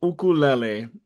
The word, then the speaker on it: ukulele: be um on point ukulele is the correct pronunciation in Hawaiian so it's like thinking